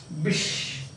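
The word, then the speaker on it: Bysshe: Bish. This word is pronounced as this one. Pronounced as I think you know it, no? But still Bish.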